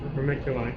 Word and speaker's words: vermiculite: Vermiculite.